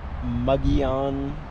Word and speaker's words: Mogollon: where are we how do you say it muggy on rim arizona okay what is the muggy on